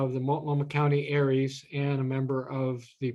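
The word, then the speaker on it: ARES: has its own acronym a-r-e-s usually pronounce aries aries is in most counties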